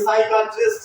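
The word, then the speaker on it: psychiatrist: psychology ठीक है ठीक है यहां पर देखिए साइकेट्रिस्ट साइकेट्रिस्ट साइकेट्रिस्ट ठीक है मन का डॉक्टर होता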